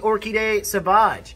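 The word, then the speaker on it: Orchidée Sauvage: pronunciation of this scene so this is the orkiday sabaj which is odd because like a lot of people come in and like let me smell that sabbats for women i will let you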